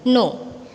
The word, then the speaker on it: know: No. In this word, letter K is kept silent. Okay, ये word में K कैसा है? Silent. So we are going to pronounce it KNOW, no.